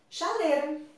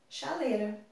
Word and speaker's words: chaleira: Mas na hora de falar, eu posso falar chaleira, chaleira. O I, a gente omite o I.